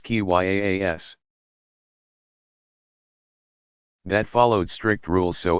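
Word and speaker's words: qiyas: of reasoning by analogy Kias pronounced ki yaa s that followed strict rules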